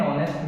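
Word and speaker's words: honest: First letter है वो consonant है इंग्लिश का, लेकिन इसका साउंड है वो ऑनेस्ट आ रहा है, यानी कि इसका साउंड क्या आ रहा है, वोवल साउंड आ रहा है, क्योंकि एस यहाँ पे साइलेंट रहेगा, तो इसका साउंड है वो ओ से स्टार्ट होगा। ठीक है, तो इसका साउंड क्या आ रहा है, वोवल आ रहा है, तो यहाँ पे लगेगा एन ऑनेस्ट मैन, एन ऑनेस्ट मैन।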